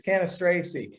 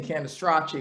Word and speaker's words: Cannistraci: italian heritage and saying candastracchi because that's the italian way of saying it so that's why and